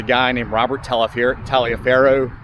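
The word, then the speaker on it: Taliaferro: named robert talloff here talia faro pronounced toliver and it's robert the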